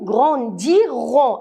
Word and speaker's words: grandirons: Nous grandirons. Est-ce qu'on va dire nous grandissons? Grandissons, c'est le présent. Mais le futur aime le R. Vous devez écouter et prononcer le R.